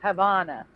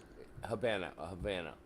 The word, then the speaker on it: Havana: So why is it that I can, like, you can't say, oh, in Spanish it's La Habana and in English it's Havana.